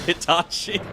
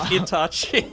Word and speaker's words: Itachi: It's not Itachi. Get rid of the H. It's just Itachi.